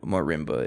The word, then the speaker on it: marimba: If you didn't know about it, marimba is how you pronounce it, or otherwise, if you can't roll your R's.